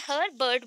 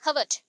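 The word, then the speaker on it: Herbert: ठीक है, मैंने यहाँ पे हर्बर्ट बोला बिकॉज आपको स्पेलिंग में प्रॉब्लम ना हो, अदरवाइज इसको बोलते हैं हर्बर्ट, आर प्रोनाउंस नहीं होता है।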